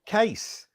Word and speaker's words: Cais: Tuesdays today here with case and that's the correct way to say your name I hope yes it is a quick hello and